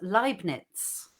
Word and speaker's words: Leibniz: He's saying it's pronounced Leibniz because of Leibniz. the E and I ran the other way. So not Liebe, Leibniz.